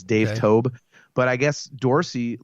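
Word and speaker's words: Toub: this guy it spelled tou B but it's pronounced Taub it's Dave Taub but I guess Dorsey like absolutely loves him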